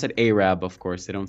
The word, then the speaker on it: Arab: And there's even a place called Arab, but they pronounce it Arab, of course. They don't say Arab.